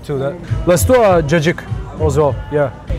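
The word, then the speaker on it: cacık: The jajik. You might heard of it in Greek restaurants. Oh, that c a c i k. Yeah. Is pronounced jik.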